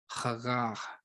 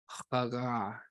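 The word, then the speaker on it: הגה: Now this one's an interesting one because the word sounds kind of like a moan itself. So it's another kind of hard one to pronounce. To moan, mutter, or ponder is chagah, chagah, chagah, chagah.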